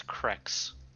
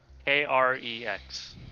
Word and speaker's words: Krex: His name is Krex. Can you Oh. spell it? Krex.